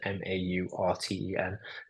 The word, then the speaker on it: Maurten: Or Mountain, I think it's pronounced Mountain, Maurten.